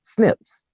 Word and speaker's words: SNP: single nucleotide polymorphisms or SNP's pronounced snips snip companies can analyze